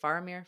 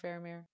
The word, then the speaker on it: Faramir: it wrong tell me again I say it faramir faramir faramir barir okay I was saying it right